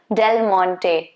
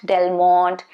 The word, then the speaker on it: Del Monte: Del Monte, the ketchup, Del Monte, not Del Monte, not whatever you say it, not that, Del Monte, Del Monte.